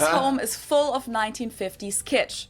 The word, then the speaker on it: Kitsch: So you could say, his home is full of 1950s kitsch. It means the same thing in German and in English, and it's also pronounced the same.